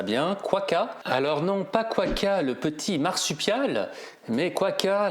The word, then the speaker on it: Quokka: J'espère que je prononce ça bien. Quaka. Alors non, pas Quaka, le petit marsupial, mais Quaka, la compagnie qui fait des sacs adaptés.